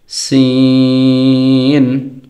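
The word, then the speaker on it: سين: তারপরের সেটে হচ্ছে সিন, সদ। সিন এবং সদের মধ্যে পার্থক্য আছে। সিন এটা উচ্চারণের সময় জবর দিয়ে উচ্চারণ করলে সা হয়, সদ এটাকে জবর দিয়ে উচ্চারণ করলে স হয়।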